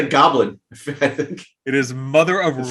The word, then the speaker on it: Mother of Runes: It is not Mother of Ruins. It is Mother of Runes.